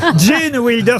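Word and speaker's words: Gene Wilder: Jane Wilder, ça s'écrit G-E-N-E, évidemment. Jane. Comme Jane Kelly, vous voyez.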